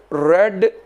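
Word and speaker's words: read: शी हैज़ रेड a book. ये रीड की third form, spelling तो वहीं रहते हैं रीड वाली, लेकिन बोलते से रेड हैं।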